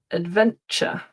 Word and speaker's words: adventure: So, while you're thinking, words ending t u r e. This is another one where I commonly hear mistakes and the ending is pronounced ch. culture, furniture, adventure, future.